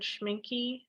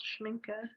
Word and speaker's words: Schminke: paints because I use this German brand Schminky, which is, or like, that's the American pronunciation. It's called Schminke in German, but that's a really great watercolor brand.